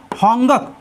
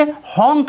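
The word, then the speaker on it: honk: अपवाद में देखिए होंगक, होंगक मीन्स होता है भोपू बजाना, इसे होंक नहीं पढ़ेंगे।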